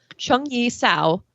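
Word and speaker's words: Zheng Yi Sao: after the death of her husband in 1807 chung yi sao took over his line of work and flourished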